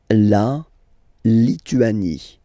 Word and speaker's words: Lituanie: La Lituanie. Remember in French, sorry, H doesn't exist, okay, so you don't pronounce it, and it's Li-tu-a-ni, Lituanie.